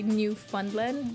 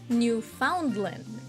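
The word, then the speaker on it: Newfoundland: radio and new fundland because it's spelled New Foundland which is not how you say it mm according to Canadians thank you Canadian thank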